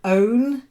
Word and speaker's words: own: thatch the th thatch own not like gown but you get a